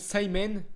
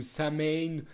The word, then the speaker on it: Samhain: Par contre, petite précision, c'est que je le prononce Simon. Alors par contre, je ne sais pas du tout si ça se prononce vraiment Simon ou Samain ou Samin ou quoi que ce soit.